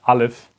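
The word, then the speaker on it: א: little bit okay so we don't say ah or something we say we use this apple stuff to illustrate that this is the guttural stop this is the alif in our English language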